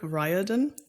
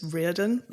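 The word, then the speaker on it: Riordan: by American author Rick ryodan which he pronounces his own last name wrong just putting it out there because I think the Irish pronun is Ren like he lives in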